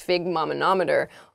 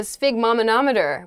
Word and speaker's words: sphygmomanometer: your blood pressure they'll put this thing this figmenometer on your arm usually and then they'll kind